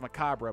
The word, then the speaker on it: macabre: Which apparently is pronounced macabre, by the way, but, you know, whatever.